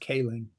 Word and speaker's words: Kling: I think it is actually pronounced Kling.